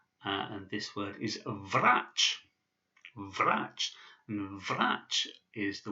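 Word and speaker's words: врач: This is the ch sound, and this word is vrach. Vrach. And vrach is the word for a doctor, a medical doctor. So vrach.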